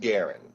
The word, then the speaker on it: Garren: your name for me are you Garen or gin it's pronounced Garen Garen okay and you have